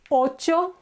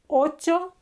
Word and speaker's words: ocho: 8 is ocho. This is the ch sound, a very soft ch sound, ocho.